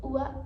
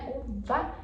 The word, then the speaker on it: uva: Então ele come B. Ele foi, ele é um b misturado com b. Então, ua u porque não é uva e não é o ba, é ua.